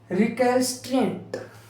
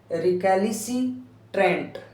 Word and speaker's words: recalcitrant: जिद्दी, आई हैड ए रिकैल्सिट्रेंट, देखो रिकैलिसिट्रेंट ऐसे भी बोल सकते हैं, और रिकैल्सिट्रेंट, अब ध्यान सुनना, रिकैल्सिट्रेंट, इसको प्रोनाउंसिएशन ढंग से करना, रिकैल्सिट्रेंट, अब देखो कैसे